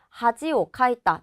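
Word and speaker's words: 恥をかいた: 예를 들어서 밑줄에 있는 단어 하지오카이다, 창피를 당했다 라는 뜻인데 이 단어가 하지라고 읽는 것을 아는지를 묻는 거예요. 그래서 하지, 하즈, 하시라고 했을 때 1번으로 정답을 골라주셔야 하는 거죠.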